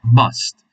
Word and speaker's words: must: Okay, so now we're gonna concentrate on the uses of must. Remember, you pronounce with an A, although it is a U, but you pronounce it with an A. Must. Must is the pronunciation.